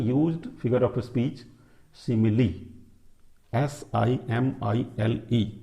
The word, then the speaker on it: simile: Now very सिंपल एंड mostly used, very often used figure of speech, simile, S-I-M-I-L-E, this is pronounced as simile.